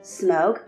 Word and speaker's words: Smaug: C'est pourquoi il semble correct de dire Fundin, Bombur, Dain, Groin, Thorin, Smaug et Gandalf.